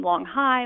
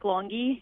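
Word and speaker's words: Longhi: So we had a lot of people mispronounce his name. Long High, Long He, everything you can think of. But yes, it is Nick Longy.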